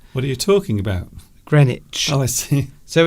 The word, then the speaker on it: Greenwich: Yes, it's strange because that word there, you don't pronounce the two E's. You only pronounce one E, and the W is silent. What are you talking about? Greenwich.